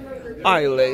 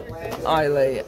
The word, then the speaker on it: Islay: Ну, в общем, это, слышите, заказали второй, другой совсем, с названием Islay Smoke. Smoke — это копченый, значит, а, ну, нет, смок — это дым. Islay. А Ханман прочитал вначале Islay, там S не произносится.